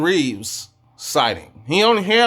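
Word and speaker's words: Reaves: And it was a re And it was a uh Revas. Oh, my bad. I'm saying your name wrong. Austin Reeves sighting.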